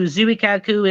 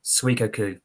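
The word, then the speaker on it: Zuikaku: her depressed so basically you got the name pronounced wrong it's called suikoku okay because they always pronounced as Zooey Kaku and he's some Japanese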